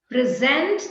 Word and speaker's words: present: Let us present the chief guest for this morning. Present. Present is right, with the stress on the first syllable.